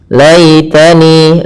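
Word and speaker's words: يا ليتني: Laitani, lai sembut, ya, lembutkan, karena di sini ada hukum tajwid yaitu bacaan lin, yang dimana ya dan waw termasuk huruf lin yang harus lembut dalam pelafalannya.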